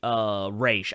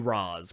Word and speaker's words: Ra's: I'm old school, so I'm gonna say Raish. I don't do Raz because sounds weird.